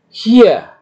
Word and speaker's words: hier: Jika ada urutan vokal seperti ini, IE, ya, maka I-nya harus dipanjangkan, ya. Dipanjangkan seperti ini. Hier, ya.